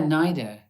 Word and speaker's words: NIDA: theater in australia is it you went to nida is that how you say it and idea the national not yeah nida yeah which is a national institute of dramatic